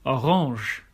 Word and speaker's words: Orange: In some words of French origin, you'll hear it pronounced as je, for example, orange.